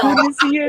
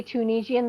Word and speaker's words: Tunisian: did you know the British say they don't say Tunisian, they say Tunisian with a CH.